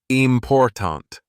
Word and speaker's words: important: than others for example in the word important the stress is on the second syllable important if stress is placed